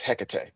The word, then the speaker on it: Hecate: Cuz I always thought his it was pronounced Hekate. Her. It's 99% of the time I believe it's a her. Um, Phil would know better than me, but it's Hecate. It is Hecate.